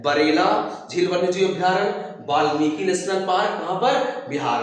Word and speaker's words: वाल्मीकि: बिहार, ठीक है, तो बिहार में वाल्मीकि नेशनल, वाल्मीकि होता है वैसे प्रोनाउंस के लिए, ठीक है, लेकिन बिहार में नेशनल पार्क कौन सा?